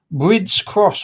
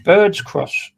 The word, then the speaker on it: Brids Cross: previously heard of and I keep getting the name wrong brids cross I keep think it's Bird's cross uh bonus points if